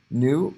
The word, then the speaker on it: nu: going to be the greek letter nu that is a new it's pronounced in you new or f so i will